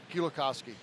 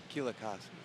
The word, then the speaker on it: Kielakowski: How do you pronounce his name? Mateusz Kielakowski. Kielakowski.